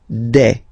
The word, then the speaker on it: des: Okay, and then the plural form des. All right, here S, you pronounce it like e.